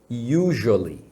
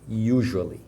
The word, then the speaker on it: usually: outra coisa é que usually você fala com som de J mesmo tá sei que